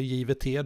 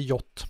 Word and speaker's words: JWT: Det här JOT då, det uttalas JOT, så det är därför jag säger JOT. Men ibland när jag säger JOT till folk så fattar de inte vad jag menar, och så säger jag JVT, då fattar de direkt.